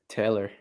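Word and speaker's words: Talor: yeah i didn't know that oh yeah yeah taylor oh you're like a you're like a gooch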